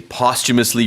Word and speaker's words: posthumously: 네, 이 발음할 때 posthumous 가운데 쭉 이런 사운드가 들어갑니다. posthumously 이렇게 발음하시면 되겠습니다.